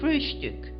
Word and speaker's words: Frühstück: word breakfast, but always call it Frühstück, with a special emphasis on the first syllable.